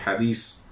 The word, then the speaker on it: hadiz: los libros nueva que lo ponen con h el inicio y 7 al final hadiz o jardín que es la pronunciación correcta en árabe entonces los años se